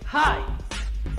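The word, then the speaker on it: hi: la pronunciación del saludo la h suena como jota en inglés y la y como hay si quieres ser más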